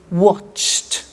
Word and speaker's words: watched: Now, when we add the ed, what happens is the pronunciation becomes T. We don't say watched, we eliminate the E and we say watched.